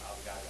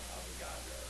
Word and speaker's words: Avogadro: Avocado. Avocado? Like, no, Avogadro. Like, so can you spell that, please? It's like avocado but with a G. Yeah, there's an R in there too.